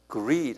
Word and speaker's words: greed: greed 한번 발음해 보세요. L이 아니라 R이에요.